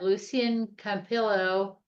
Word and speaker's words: Lucien Campillo: Okay, next on our agenda, we have Lucien Campillo, uh, director of project management, and I probably pronounced his name wrong also, uh, who will provide an update on the Clear Water Station, uh, Lucian.